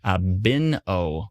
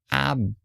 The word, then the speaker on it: Point Abino: Point Abino is pronounced Abino with the stress on the A and O. Abino. Point Abino.